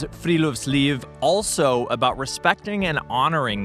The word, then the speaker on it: friluftsliv: Friluftsliv. Friluftsliv.